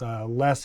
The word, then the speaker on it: Loess: The other place I buy from quite often and really like working with is Les Hills Sawmill. And that's spelled Loess Hills Sawmill.